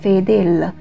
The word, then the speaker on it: fedele: 另外需要注意的是 fedele，它的重音在第二个音节，请注意不要发音成 fedele。